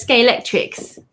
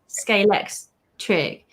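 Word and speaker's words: Scalextric: compared to the rest everyone says sk electrics it's like no it's scalex trick but it must be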